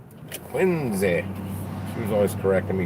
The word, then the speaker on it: Quincy: She said I was pronouncing it wrong. It's not Quincy, it's Quincy. Quincy.